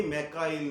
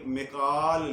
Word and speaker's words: میکال: بھی تلفظ بگڑ گیا۔ اسرائیل کو دیکھتے ہوئے ہم نے میکائیل کہنا شروع کر دیا، یہ میکائیل نہیں، میکال لفظ ہے، میکال قرآن پاک کے مطابق۔ امید ہے آپ کو